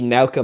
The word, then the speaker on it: Nauka: I don't remember how you pronounce it either. It's the Nauka module. I believe I'm saying that. That's close. Yeah. It's the new Nauka module for the ISS.